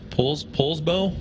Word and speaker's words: Poulsbo: He is from right here in, I believe it's pronounced Poulsbo, Washington.